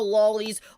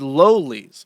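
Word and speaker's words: lolis: He's talking about how lollies are basically if you like Sorry, I was directly corrected by the Pippa Pipkins. It is lolies with a long O because it is based off the book Lolita.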